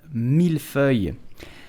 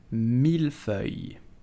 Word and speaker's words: mille-feuille: buttery a little crispy i'm talking about the milfoy so how do you pronounce it correctly with the real french accent so you will simply say mil fue milfoy so pronounce it carefully the second word is